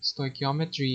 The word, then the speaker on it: stoichiometry: english element and metron which is measure formally stoichiometry is defined as the study of the quantitative